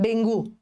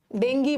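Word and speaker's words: dengue: ये लिखना, डेंगू इज, डेंगी बोलते हैं इसको हम लोग, नॉर्मल डेंगू करते हैं, बट सही प्रोनाउंसिएशन डेंगी है इसका, बट हमें डेंगू बोलने की हैबिट हो गई है।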